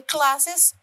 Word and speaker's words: class's: In pronouncing the first example, we you pronounce is the class's project. Class's project with the IZ syllable. The sound of Z is coming.